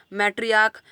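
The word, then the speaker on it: matriarch: Head of the family, और इसका last कर रहा है सी एच से और इसका जो प्रोनाउंसिएशन यहाँ पर क है यानी कि इसका प्लूरल बनेगा मैट्रियार्क्स।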